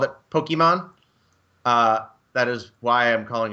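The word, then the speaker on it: Pokémon: career out of studying Japanese, I know it's pronounced Pokemon, but as a person who played it in 1998 and called it Pokemon, that is why I'm calling it Pokemon.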